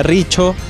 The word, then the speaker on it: Rizzio: Mi apellido son Rizzio, se escribe así. Muchos me dicen que se pronuncia Riccio, así que...